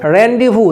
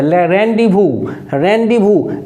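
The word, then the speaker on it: rendezvous: तो अगला वर्ड है आपको रेंडे वू देखिए यह भी बहुत सुंदर वर्ड है रबू वू इसका आर ई एन डी जड व ओ यू एस स्पेलिंग होता है फ्रेंच वर्ड है और इसका मतलब हो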